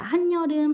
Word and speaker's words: 한여름: 끝소리 규칙이 있죠 자 한 여름 한 더하기 여름이고 발음 날 때 한여름 이렇게 니은이 청가 되었으니까 3번의 한 여름이란 예시도